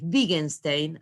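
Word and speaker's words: Wittgenstein: trabaje yo acá en la página que es big einstein así se pronuncia y el otro no lo trabaje es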